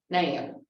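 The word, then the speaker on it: Nelle: And she said, Harper Lee's first name is Nell, N-E-L-L-E, which is pronounced Nail. Okay, say that with me, Nail. Okay, Nail. She gave that up when she published her book.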